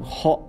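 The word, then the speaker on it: ほ: The pronunciation method is to purse your lips and immediately after making sound of H while breathing out from the back of the throat, pronounce O.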